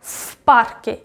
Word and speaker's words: в парке: Also pay attention that when the next the word starts with unvoiced consonant, for example, p is unvoiced, v becomes unvoiced as well. So it's like в парке. It's not v, it's f.